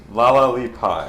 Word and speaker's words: La-la-li-Puy: How do you pronounce the sorceress queen's name? La Pie. Laali pie.